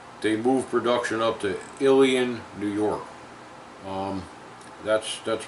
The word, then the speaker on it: Ilion: to ilion New York in my video i mispronounced that word um I really didn't know how to pronounce it at the time when I made the video i called it I lion because that's the way it's written it's written I l io n it looks like I lie